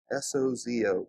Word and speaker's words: sozo: He uses the word sozo. S-O-Z-O, but it's pronounced sozo.